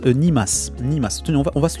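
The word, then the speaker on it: 煮ます: Et ça se prononce nimas.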